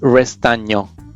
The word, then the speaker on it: Restagno: Yeah, it's a really difficult pronunciation in Italy. It's Restagno. Restagno?